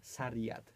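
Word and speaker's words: Sairat: Serat? Serat. It's a Okay. really nice movie. Pisze się Serat po prostu? Przez S. Sariat.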